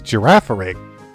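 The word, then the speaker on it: Girafarig: How do you pronounce that name? That's Giraffere.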